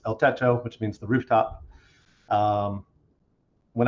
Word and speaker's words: El Techo: El Techo, it's pronounced El Techo, not El Techno or anything like that.